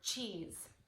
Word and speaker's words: cheese: For example, sometimes the S sound actually makes the Z sound, like in the word cheese.